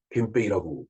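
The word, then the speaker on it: 憲兵: 일본 헌병 니뽕 겐페이라고 그 일본말로 발음을 하면 되겠죠.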